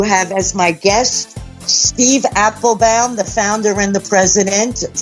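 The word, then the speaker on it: Appelbaum: Everybody says Applebaum, but it is Applebaum.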